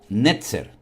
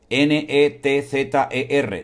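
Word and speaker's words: נצר: Entonces puede ser, la explicación más lógica es que como la palabra vástago se pronuncia y es muy, muy parecida a la palabra nazareno en hebreo, puede ser que de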